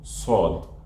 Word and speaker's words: ص: After the seen, starting from sod, I have to round my lips a little bit. This is how I perfect those deep sounds. So sod, sod, and also dod, sod and dod.